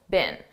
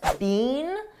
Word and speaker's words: been: I don't speak British English, but I believe in British English they pronounce it more stressed, been, but in American English we don't do that.